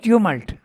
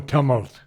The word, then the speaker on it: tumult: with the tumors you you pronounce the word Tamil okay I thought it was pronounced tumult uh I think that's more American yeah I think British is more tumult yeah really we'll have to